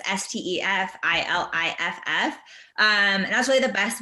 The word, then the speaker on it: Stefhanie Iliff: It's spelled super weird, but it's Stefilliff.